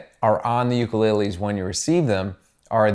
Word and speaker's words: ukulele: we pull out these ukuleles and play them it's pronounced ukulele and um I'm sorry if I say ukulele sometimes I'm from New York and my accent is offputting I get it okay